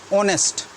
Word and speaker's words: honest: you pronounce the word h is silent so when you speak out the word it becomes honest we can't use a